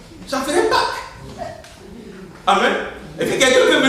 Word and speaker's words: Pâques: que ce soit Pâques, même si on enlève le ES, ça se prononce Pâques, avec QU là.